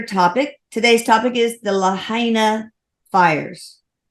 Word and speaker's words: Lahaina: Today's topic is the Lahaina fires. We think that's how you pronounce it. He says that's correct.